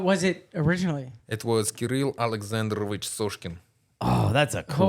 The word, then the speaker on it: Kirill: Kirill. It's like a key and a reel put together. Kirill. But you have to Kirill. roll your R's. You have to roll the R.